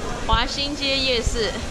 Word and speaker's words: 華西街夜市: 華西街夜市.